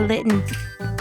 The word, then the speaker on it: Litten: It's spelled just like kitten but but with an L. Okay. Kitten and it looks like a cat. I mean that makes sense then. I hate it though when certain words people like pronunciate like they over pronunciate. Hold on now. I'm trying to get a chest spin. What you mean if I said litten like instead of litten like kitten or kitten?